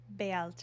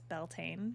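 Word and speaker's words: Bealtaine: the seasons are imul Bela which is belan you may have heard it pronounced that way lunasa and saan and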